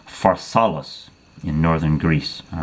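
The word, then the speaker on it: Pharsalus: battle at a place called in his effect pronounces far solace in northern Greece all right he crushes Pompey's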